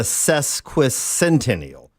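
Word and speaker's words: sesquicentennial: I left out a a syllable. It's a cesquisentennial.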